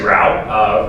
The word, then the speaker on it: Rao: As she said, my name is Jesse Rao. Rhymes with wow, you'd be great on the city council.